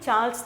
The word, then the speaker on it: Charles: Okay, அவங்கள இந்த King George Charles சார்லஸ் சொல்லக்கூடாது, ஸ்டைலில் நம்ம சொல்லணும், CHARLES, சார்ல்ஸ். சார்லஸ் அப்படி சொல்லக்கூடாது, சார்லஸ்ன்றதை விட you have to pronounce it ஆஸ் சார்ல்ஸ்.